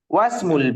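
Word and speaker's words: وَاسْمُ: Yang kedua itu nggak dibaca alifnya Ustaz. Nah, sahih. Yang kedua, alifnya itu tidak terbaca.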